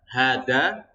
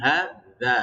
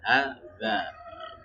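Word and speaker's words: هذا: Karena kalau misalkan kita membaca hada, salah kan gitu kan? Ya benar, hada kan gitu. Ujung lidahnya keluar, hada. Nah, itu kalau zal.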